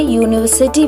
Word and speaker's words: university: We say university with a because Y sound at the beginning as though it were spelled university. So a university is correct.